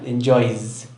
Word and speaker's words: enjoys: Y se pronuncia enjoys con el sonido vibrato, enjoys.